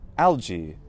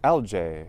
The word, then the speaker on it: algae: then we also have algae or algae or algae or however you like to pronounce it is probably just fine a singular one would